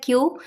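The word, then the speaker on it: queue: तो इसकी correct pronunciation होती है क्यू। पांच लेटर्स में सिर्फ क्यू को हम प्रोनाउंस करते हैं। बाकी जो और लेटर्स होते हैं वो ऑलमोस्ट साइलेंट ही होते हैं।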